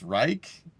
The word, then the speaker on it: Reich: It's Rick kind of pronounced Reich, but Rick is funnier.